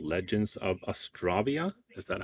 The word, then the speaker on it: Astravia: a lot um but astravia is is kind of um I'd say the the canonical way to pronounce it because it kind of comes from Astra like astral like stars you know I like